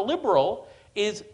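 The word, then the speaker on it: ليبرالي: The Egyptian term for liberal is, the Arabic term that's used is liberali, which is it's an English word pronounced in an Arabic accent.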